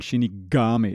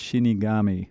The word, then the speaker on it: Shinigami: and I even know you have to pronounce the G a little softer. I was saying Shinigami. It's Shinigami, right?